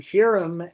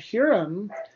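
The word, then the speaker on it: Huram: up a little confusion you notice he called him herum and that's spelled hu r a m it's actually hyam but Ezra uh mixed these two names there is someone called hurum connected with hyam he hurum was a servant of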